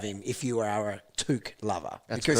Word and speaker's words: Touk: Are we officially going to pronounce his name correctly from now on? Touk. We've been told by the Gold Coast Suns to pronounce it correctly. Have we? Yes. Apologies, Touk. Way more fun when we're talking about a Touk. Like Luke.